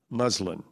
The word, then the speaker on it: muslin: Am I saying it correctly? Say it again, please. Muslin. Yes, muslin.